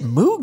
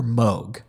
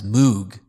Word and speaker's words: Moog: Is it Moog or Moog? I've always been told it rhymes with Vogue or Rogue. All right. So I have been mispronouncing it my entire life as Moog.